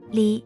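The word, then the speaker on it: 李: with r and such Chinese words beginning with L are pronounced within or silent so the same surname is pronounced Li in Chinese and E in Korean contemporary Korean has seven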